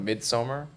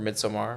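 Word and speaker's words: Midsommar: said that was um I always pronounce it maybe pretentiously. I think this is how you're supposed to pronounce it, but Midsummer or Midsomar. Midsomar. Yeah. Yeah. Some people say Midsummer and I'm like I definitely don't think that's right.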